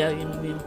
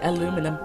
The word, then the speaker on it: aluminium: Now we have all the aluminium. It's funny, because Americans say aluminum. Aluminum. No, aluminium.